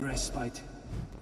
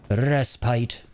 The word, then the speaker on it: respite: Oh, a moment of restite. Respite. Again, that word gives me trauma. So, when I used to pronounce it that way after playing Dark Souls